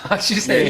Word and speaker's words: 세상: 제 이름 스펠링이 SESANG예요. 네네네. 그걸 이제 미국 발음을 하면 이제 C생이 돼요. 시생.